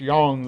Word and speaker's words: Yang: When someone first sees this character's name, they're probably going to call him Yang, since his name looks a lot like a word that should rhyme with the word bang.